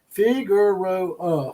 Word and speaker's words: Figueroa: Just told me how to pronounce that word. It's Figueroa for us pasty people.